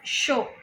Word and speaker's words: sure: But there are some exceptions. कुछ exceptions होते हैं. जैसे for example, SURE. What is that pronounced as? यहाँ पे तो S है, SH नहीं है. SU I'm saying. So SURE is show.